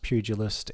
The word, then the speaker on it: pugilist: It is pronounced pugilist and it is a term for somebody who is a fighter as a profession.